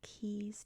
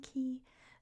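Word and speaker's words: cay: In the Bahamas, it's spelled C-A-Y. So it is pronounced Key.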